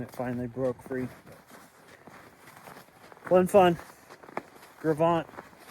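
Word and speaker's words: Gros Ventre: Gravant, the Gravant slide. That's how how we pronounce it around here, at least. The Gravant, Gros Venture, the Gravant slide.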